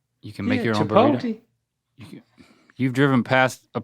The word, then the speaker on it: chipotle: No, all right, say it as if it ended in L-A-Y. Chipotle. L-A-Y.